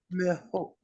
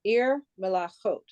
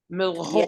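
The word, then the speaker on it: מלכות: Now, it's like saying Melahot, but Melahot. Don't you pronounce the K in there? The K and the H is together. So it's yes. Melachot.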